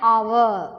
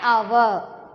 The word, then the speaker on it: hour: Here an honourable man, an hour. Okay, here H is consonant, but it's pronounced vowel because we add an honorable man, an hour.